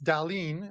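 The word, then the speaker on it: Dahlin: number two uh um Andy says uh Rasmus d uh D and you don't say anything to him it's Dalene I I get killed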